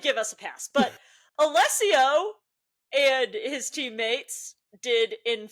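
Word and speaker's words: Alessio: Um, friend of the show, Allesio Picariello, as he told us to say it.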